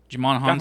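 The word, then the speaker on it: Djimon: say his name right Jamon honu Jamon H Gladiator yeah yeah did I say that actually right the first name I ever hit it's a silent D like a white the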